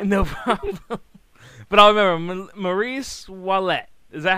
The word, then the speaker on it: Maryse Ouellet: That's how I pronounce it. Oh, my God. It's Maryse Ouellet. But the Ouellet. American version is Maryse Ouellet.